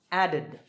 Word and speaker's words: added: All right, next, the last sound is d, so the ed ending is pronounced id, added, added.